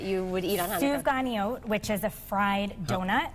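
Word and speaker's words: סופגניות: Souvganiyot, which is a fried donut. How do you say that again? Souvganiyot.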